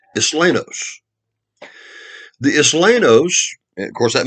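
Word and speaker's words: Isleños: That's a Spanish word. Islenos, pronounced Islenos.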